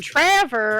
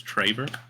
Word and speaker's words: Traver: And Trevor are the two. Well, you're saying his name wrong too. It's Traver.